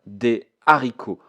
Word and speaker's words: haricots: There are like some words with H where you have to pronounce it in a way. D'accord? Donc on va dire des haricots. We will make a break here.